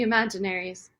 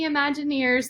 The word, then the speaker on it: The Imaginaries: I think that uh he nailed it the imaginaries it's funny though because um I can't tell